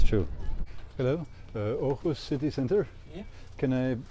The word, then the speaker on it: Aarhus: Aarhus, they pronounce it.